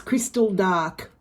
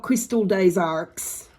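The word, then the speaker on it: Cristal d'Arques: won't mention astounding anyway it's Crystal dark not Crystal days arcs I will continue without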